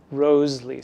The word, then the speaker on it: Wriothesley: And people sometimes think that it was Henry Wriothesley because Wriothesley, the way that it's spelled, is sometimes, people said in Shakespearean times, pronounced Roseley.